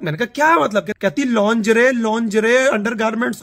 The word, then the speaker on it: lingerie: मुझे बड़ा लेट होके बलूगत के बहुत सालों बाद आइडिया हुआ कि लड़कियों के अंडरगारमेंट्स को लॉन्जरे बोलते हैं, लिंगरी नहीं बोलते गरीबो।